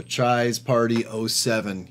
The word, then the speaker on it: Chai's Party 07: That is going to Chai's Party 07. I know I mispronounced it the last time he won. He corrected me. It's like Chai Town, like Chicago. So Chai's Party 07.